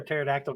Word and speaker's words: pterodactyl: Why can't you hear a pterodactyl go into the bathroom? Because the P is the silent. Because the P is silent.